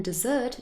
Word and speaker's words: dessert: impacts the sounds because in the first word desert we really have a schwa sound here it's not stressed it's this very very short a sound desert but in dessert the er spelling is an er sound because we stress it it's a very different vowel sounds in those two syllables here's another example to